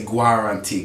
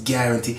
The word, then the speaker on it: guarantee: go out on the Polish people like to say guar auntie cuz that's how they say the Polish pronunciation be careful of that pronunciation it's guarantee I guarantee you have